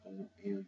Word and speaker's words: Olufunke: And it's spelled, and the word is spelled O-L-U-F-U-N-K-E.